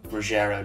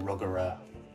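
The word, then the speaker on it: Ruggero: edge of the park I had to look up how to pronounce Ruggiero deodato because I've always just called him ruggerah also it's in a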